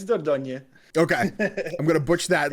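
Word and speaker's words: Dordogne: always the people like I was calling her dorone I was like I don't know how to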